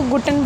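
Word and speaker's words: Guten: तो इनके specifically good word good word को गुटन बोला जाता है।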